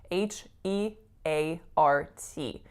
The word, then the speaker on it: heart: the word is spelt H e a RT and ei R is sometimes pronounced as we know as ear but in this particular word the sound is a complex AR vowel it's our our heart